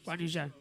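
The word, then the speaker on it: Zhou Guanyu: You say his name like Zoe, right? Yeah, Guan Yu Zhou.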